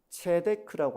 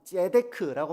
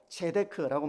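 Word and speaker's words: צדק: 히브리어로 공이라고 하는 말은 체데크라고 하는 말입니다. 뭐 발음상 재크라고 말하기도 하고 체데크라고 말하기도 하는데 어쨌든이 공이라고 하는 말은 체데크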